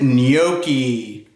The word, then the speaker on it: gnocchi: does not start with no not n but a silent G and neo key for those of you